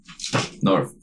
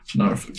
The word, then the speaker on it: Norfolk: Narf. Narf. Nah, fuck. Norfolk.